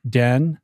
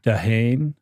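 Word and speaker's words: D'Haene: How do you pronounce his last name? Den. Den, okay. Dehane. Dehane would be the Francois butchering Den.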